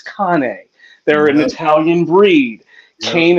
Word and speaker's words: Cane Corso: you spell it C NE e but it's pronounced Kane right they they come from Italy and it's